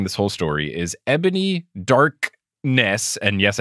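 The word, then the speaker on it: Dark'ness: whole story is Ebony darkness and yes I did pronounce that with the apostrophe in between dark and Ness Darkness Dementia Raven Way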